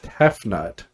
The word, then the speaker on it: Tefnut: to do it all he created sue and tefnut by spitting them out of his mouth that's not i mean i'm sure i'm pronouncing it wrong but that t e f